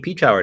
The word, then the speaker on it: Peshawar: Is that how you say it? Peach Hour. Peach Hour. Yeah. Oh, okay. Yeah. Peshawar. Peach Hour is how I've always heard it pronounced here in the States.